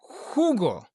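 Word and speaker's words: jugo: Next we have the J in English in Spanish is pronounced hot. We'll take the word hugo for juice. Hugo. So the J imagine as if it was the wh as in who who did this but it's a J. Okay. So that will help you connect the pronunciation of the ha with Spanish hugo.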